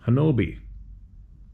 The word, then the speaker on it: Honobia: The story is well known, and you can find it online by searching The Siege at Honobia, pronounced Hanobi.